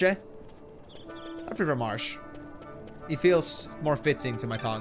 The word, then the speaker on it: Marche: I'm not sure how else I'm supposed to pronounce that. Marke? Marche? I prefer Marsh.